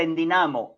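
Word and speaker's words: ἐνδυναμόω: Endunamó. Endunamó. Y en Dunamo se escribe en el griego moderno como igual, pero se pronuncia en dinamo, y de ahí viene nuestra palabra dinamizar.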